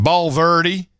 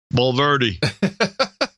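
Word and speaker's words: Bulverde: Bullard broke Bowl Verity what is it pronounced ball Verde ball Verde lover detection over Texas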